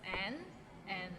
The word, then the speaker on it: 難: Nan, it means difficult and it's difficult to pronounce. So it starts with N and ends with another N. Nan. And it's in a low tone, so nan.